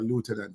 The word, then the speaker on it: lieutenant: I'm a lieutenant, or lieutenant, as Americans say.